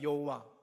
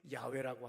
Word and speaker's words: 야훼: 그래서 우리가 여호와 그러지만은 사실은 나중에 가장 근접한 발음이 야훼라고 하듯이, 그래서 히브리어라고 하는 것